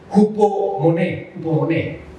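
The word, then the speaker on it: ὑπομονή: Nuevamente, el que le gusten los números Strong y los originales, se pronuncia algo así como hupomoné, ¿sí?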